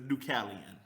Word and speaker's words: Dukalion: on it like i knew that's how you pronounce it but right so yeah it's ducallion yeah and it definitely wasn't me that was